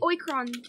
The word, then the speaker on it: Oikron: If we were to take the oikron, or how do you say that? Oikron. Yeah, I was right.